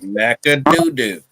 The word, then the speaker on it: McAdoo: McAdoo.